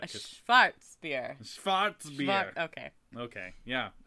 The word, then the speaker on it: Schwarzbier: And you have to say it like that. A Schwarzbier.